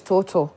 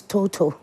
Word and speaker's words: Totoe: I was I was asking about the right pronunciation of the medical facility it said it's total it's total Total Medical Home Care Home Care Services right